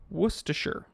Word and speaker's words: Worcestershire: stroke me the worst sister shire sauce it's worcestershire okay can i clear this up in the comment section worcestershire say it with me worcestershire okay worcestershire why is it said that way